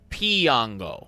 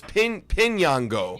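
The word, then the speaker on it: Piñango: I looked up like how to pronounce Johendrick Piango, or that's Pinyango. Like a pin.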